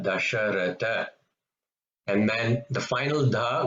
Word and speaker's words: Dasharatha: Third da is dasharatha. This is not a Mahaprana, dasharatha.